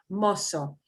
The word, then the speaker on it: mozo: Mozo. Mozo, which in Spain, I would pronounce that mozo.